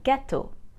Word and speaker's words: gâteaux: The X is silent. So both singular and plural have the same pronunciation.